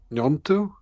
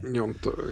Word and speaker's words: Gnonto: So it could be one of Sinistera or Wilfried Gnonto. Is that how you pronounce his name? I think so. There's Yeah. actually a discussion about that, but yeah, Nyonto Yeah. is what most people say. Gnonto.